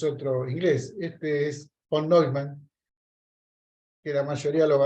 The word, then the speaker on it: Neumann: no me pidan acá, se escribe von Neumann con doble N al final y una sola M, Neumann. Por eso es Neumann, es una palabra de origen alemán, es von Neumann.